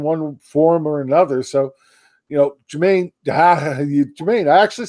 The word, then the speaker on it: Jermaine: So, Jermaine, I actually said it right that time, and I was going to correct myself.